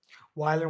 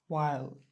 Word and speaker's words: while: WH আছে, তা আমরা ভাবি যে হোয়াইলের মতো এটা উচ্চারণ হয় না, সঠিক উচ্চারণ হচ্ছে কি ওয়াইলের মতো উচ্চারণ হয়। দেখি, ওয়াইল, প্রিয় ওয়ানা একটু হাইয়ের দিকে যায়, বাট আলটিমেটলি এটা ওয়াইল বলতে হয়।